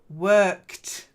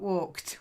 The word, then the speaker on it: worked: E blonds that's it worked not walked worked worked that's better and cheery cheery yeah